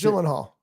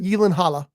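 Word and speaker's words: Gyllenhaal: well Jake ghalla and I'm still hearing people pronounce jenal and he says that's okay because he knows that Yen Halla is hard to pronounce and also a lot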